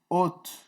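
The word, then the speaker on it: אות: hebraico letras se escreve ot. Letra, ot. Aleph, esse som de O é um Vav. E Taf, que a gente vai aprender no final, tá? Então, Aleph, Vav, Taf, Ot.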